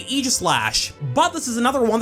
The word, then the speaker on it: Aegislash: In the anime they say Aegislash, but this is another one that could go either way. The AE combination of letters isn't that common in English, but it's pronounced differently in different words.